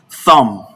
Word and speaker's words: thumb: The B in all of these words are not pronounced.